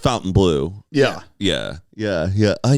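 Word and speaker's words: Fontainebleau: it's Sicilian whatever we're Sicilian so it is Fountain Blue why is there no U there is a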